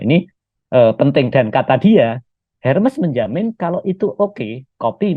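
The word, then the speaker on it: Hermès: Hermes. Hermes, Iya. bacanya Hermes gitu.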